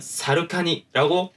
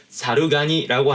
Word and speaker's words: 猿蟹: 이 단어를 붙였을 때요, 기본적으로는 사루카니라고 발음을 해야 해요. 왜냐면은 사루가니라고 하는 단어는 존재하지 않거든요.